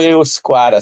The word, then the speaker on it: Euskara: Euskera ou Euskara, se lê da mesma, de duas formas.